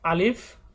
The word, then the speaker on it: আলিফ: আমরা অনেকেই হয়তো বা আলিফ উচ্চারণ করি, কিন্তু এটা আলিফ নয়, এটা কিন্তু আলিফ।